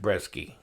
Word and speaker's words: Brzeski: 300 run of them so you pronounced Brisky yeah that's what I was saying but in any case